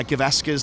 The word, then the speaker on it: Gavaskar: You don't lean on any you don't lean on any of the syllables. They're all equal, so it's Gavaskar. There you go. All three have the same weight.